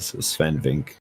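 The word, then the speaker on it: Swen: I don't think you pronounce the E at the end. Sven.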